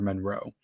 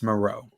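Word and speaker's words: Moreau: I do it and since I was a kid I've always said Dr Monroe um but it's maroe yeah it's maroe I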